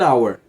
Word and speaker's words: hour: com a próxima palavra começa com som de vogal então an elant legal iG an hour hora an hour não vou falar an